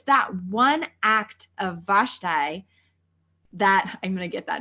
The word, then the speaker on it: Vashti: that I am team vashti vashti I always say it wrong what is it all right best tie - tie I am team Vashti she was the character